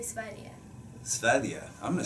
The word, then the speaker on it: Sverige: We say Sverige.